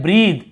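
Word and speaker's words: breathe: जैसे आप यहाँ देख रहे हैं ब्रीद, इसे ब्रेथ नहीं पढ़ेंगे, क्या पढ़ेंगे, ब्रीद, ब्रीद यानी होता है सांस लेना, ब्रीद।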